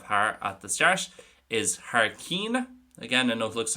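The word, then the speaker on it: thar cionn: But today, the first thing we are looking at is Har Kyun, or as I would pronounce it, and as most Connacht speakers would pronounce it, Har Keen.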